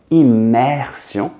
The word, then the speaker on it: immersion: If it's a vowel, so immersion, it's followed by an E, then it's going to be an I on the I, immersion.